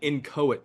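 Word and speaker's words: inchoate: your show today for this it's called an incoit crime I don't know if I can spell it right i n c h o a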